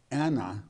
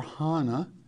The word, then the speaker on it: Anna: great book of luke Anna or Hana whichever you wish to pronounce correctly in in the temple